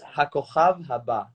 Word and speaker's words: HaKochav HaBa: Because I'm never able to in pronounce Hebrew, it. it's Hakochav Haba, About l'Eurovision, which is mean L'Eurovision, yes.